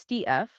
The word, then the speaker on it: stETH: That is pronounced stETH, short for staked ETH.